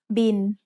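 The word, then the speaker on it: บิล: the word bill but we read it in Tha as bin Tai doesn't naturally have the l sound at the end of a syllable so it changes to sound like the letter n s Ling B now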